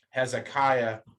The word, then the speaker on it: Hezekiah: Judah's king is Hezekiah, not anything else. It's Hezekiah, and everything and things like there's a guy named Hilkiah. Generally, I's before A's are always Aya. So like Hilkiah, Eliakim, Hezekiah, that sort of thing.